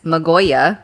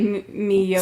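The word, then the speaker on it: Myoga: Magoya. No, wrong. All right. Miyoga.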